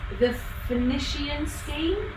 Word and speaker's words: The Phoenician Scheme: I'm gonna pronounce it very badly. The Phoenician Scheme.